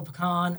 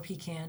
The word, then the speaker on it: pecan: We had a big, beautiful pecan or pecan, depending on how you say it.